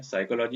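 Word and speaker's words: psychology: knife, knowledge, साइकोलॉजी, पी नहीं पढ़ेंगे, साइकोलॉजी यहाँ पर निमोनिया में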